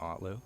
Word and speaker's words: Otlo: hello and introduce yourself hello everybody I am otlo here with loua on air nice to be here you pronounced it right A lot of people don't